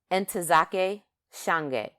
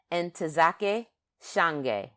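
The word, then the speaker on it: Ntozake Shange: and this poet this writer her name is andake Shang and I have been mispronouncing it wrong probably my whole life um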